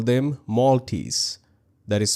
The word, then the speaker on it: Moltys: They call them Maltese, that is spelled Moltys, named after the platform's lobster mascot.